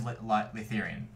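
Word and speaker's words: Laytherian: is sound mithian right uh no common is litheran how do you spell that it's in the Google Doc but it's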